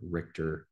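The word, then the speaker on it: RICTOR: You can have some amplifications in so-called TRIO, T-R-I-O, or Richter, which is spelled R-I-C-T-O-R, but ultimately affects the AKT and mTOR pathways.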